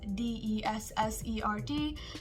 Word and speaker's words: dessert: So instead of pronouncing it as D-E-S-S-E-R-T, you will change the E into I, so it becomes more like dessert. Dessert. For example, my favorite dessert is a chocolate cake. So not dessert, dessert.